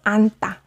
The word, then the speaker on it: 안다: But as for now, you can remember that hug, the base verb of hug, is pronounced anta. So yes, anta is a combination.